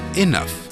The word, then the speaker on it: enough: read as trouble and e and o u GH is read as enough to understand spellings better